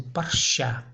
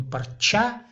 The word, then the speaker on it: парча: Не всегда Ч произносится как Ч. Допустим, парща. Парща, не парча, как четко в русском языке произносится Ч.